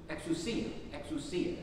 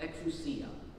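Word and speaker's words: ἐξουσία: Because the Greek in our gospel lesson is exousia is how it's pronounced, exousia, which can be translated as authority, power, or the power of authority.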